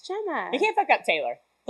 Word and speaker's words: Gemma: I still get Gemma. Gamma. Oh, no, Gamma? Gamma. No, it's Gemma.